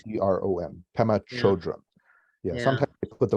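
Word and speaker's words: Pema Chödrön: Pema Chodron.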